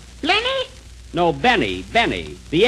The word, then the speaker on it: Benny: Jack Blenny? Blenny? No, Benny. The L is silent in there.